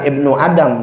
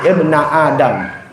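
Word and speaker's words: ابنَ آدم: Dalam hadits qudsi, ya, yang Allah berfirman, ibna Adam, hai ibnu Adam, ya, takdirnya yabna Adam, harfun nidanya ya-nya diilangin. Jadi bukan ibnu Adam, bacanya ibna Adam.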